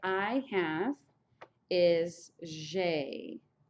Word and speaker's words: j'ai: Okay, so for first person singular, to say I have is j'ai. J apostrophe AI. J'ai. J'ai. It's just like a blue jay bird almost, except for the J is a little softer.